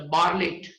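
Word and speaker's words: Bartlett: थे, लेकिन मार्च 1962 नील बार्टलेट, मतलब बार्लेट, टी is silent, nil बार्लेट, okay, and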